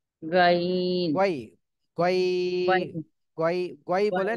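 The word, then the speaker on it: غين: হয়েছে জি এরপরে তাহমিনা বেগম আপু আপনি হরফটা উচ্চারণ করে শোনান গইন আরেকটু টান দিতে হবে আরেকটু টান দেন গইন মাশাল্লাহ সুন্দর হয়েছে জি এটা তিন আলিফ টান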